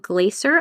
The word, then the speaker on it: Glaser: So that is American Baby, and the author's name is Gabrielle Glaser, I believe is how you say her last name, Glaser.